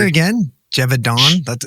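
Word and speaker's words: Gévaudan: But after say it again, Gevaudan. That's Gevaudan.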